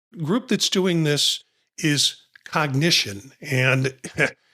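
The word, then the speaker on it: Cognixion: that's doing this is cognition and it's not spelled like we spell cognition but I'm giving you the pronunciation. It's C O G N I X I O N and I'm pronouncing it cognition.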